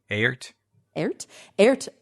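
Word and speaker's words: Aert: do you guys know how to pronounce that name a-e-r-t aart van Beethoven who lived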